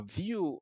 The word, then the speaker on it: Vue: be read differently but in the industry it's pronounced as View so that's vue.js and